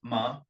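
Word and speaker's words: 麻: ma ma ma so ma is like the second intonation for for the CH for for the word basically fantastic man it's an amazing history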